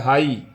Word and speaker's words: high: ठीक है, उसके बाद आप देख लीजिए एक वर्ड और है हाई, HIGH, यहाँ पे आई के बाद GH अगर आता है तो GH साइलेंट होता है, इसको हाई पढ़ा जाएगा।